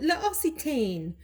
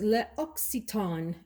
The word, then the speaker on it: L'Occitane: As many times as I've walked into that store, I always called it L'Occitane. Absolutely incorrect, apparently, is L'Occitane.